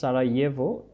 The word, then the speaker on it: Sarajevo: Okay, during the terrible civil war in Yugoslavia in the early 1990s, Sarajevo, এটার উচ্চারণটা হচ্ছে Sarajevo, was besieged and the population was continually under attack.